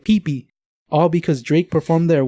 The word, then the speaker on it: Phi Phi: it there, he said Kiki, but the natives, they said, oh, he must be talking about Phi Phi. But he mispronounced it, and then they were trying to interpret it, and they somewhere along the line got mixed up, and now they call it Pee Pee.